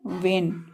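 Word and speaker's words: vein: व ई receive receive means लेना next है वेन वेन means Sira वेन मीस सीरा होता है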